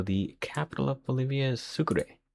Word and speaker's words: Sucre: So the capital of Bolivia is Sucre sounds like a sugar Sucre.